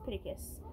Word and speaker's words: Pittacus: how it looks like it's Bella Pittacus lore but it gets Pittacus it sounds like Spartacus or something anyway I am Number